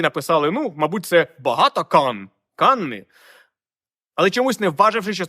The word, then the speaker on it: Cannes: ну мабуть це багато Канни але чомусь не важивши що це Англія а Франція і каннес згідно французької фонетики вимовляється як Кан просто Кан Ну трошки відійти від